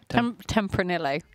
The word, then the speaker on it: Tempranillo: Tempranillo. You have a spot of bother with that one, don't you? I don't, because the double two L's is a Y, isn't it? That's how you pronounce it.